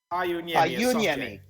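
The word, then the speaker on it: Pajuniemi: Is it Pa-Uniemi or Pa-Uniemi? Is there a hard J or a soft J? Pa-Uniemi. So of those 3 guys, are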